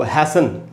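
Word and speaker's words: hasten: तो इस तरह के वर्ड्स आपको हैसन, HASTN, हैसन का मतलब जल्दी करना।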